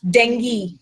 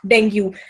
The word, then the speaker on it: dengue: It is dengue, not dengue. But दिक्कत क्या है, हम हिंदी के न्यूज़पेपर्स पढ़ते हैं, हिंदी के इश्तिहार सुनते हैं और वही वर्ड्स हम यूज करते हैं. It is dengue.